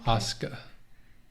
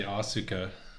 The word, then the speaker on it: Asuka: Is the U silent? Sort of. Okay. Asuka. That's how they say it.